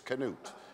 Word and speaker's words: Knute: as well as anybody that's the historically correct way to pronounce Newt you taught me that yeah it's Knute it got Americanized somewhere along the way and this is very